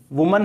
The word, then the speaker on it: women: अभी तो आप ऐसे समझ लें कि WOMAN का प्रोनाउंसिएशन वुमन है और WOMEN का प्रोनाउंसिएशन विमेन है, ये आपको ध्यान रखना है, वुमन और विमेन।